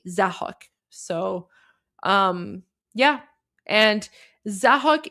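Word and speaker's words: Zahak: This is Zahuk.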